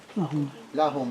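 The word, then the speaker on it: لهم: Lahum, because it's an attached pronoun, so that lam is going to get a fathan, a zubar on it, yeah?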